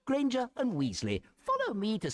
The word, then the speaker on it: Granger: Potter and granger end with a schwah. Potter. Granger in British English. You don't say porter nor granger.